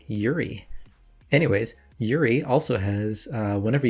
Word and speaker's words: Juri: as i previously determined the j is silent so he actually prefers to go by yuri anyways yuri also has